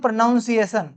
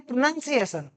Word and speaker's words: pronunciation: लिखा हुआ है ना, बहुत सारे लोग इसको पढ़ते क्या है बताऊं मैं? इसको पढ़ते हैं प्रोनाउंसिएशन, इसको ही गलत पढ़ रहे हैं। जबकि ये जो लिखा हुआ है इसे हम पढ़ते हैं प्रोनाउंसिएशन। क्या पढ़ते हैं?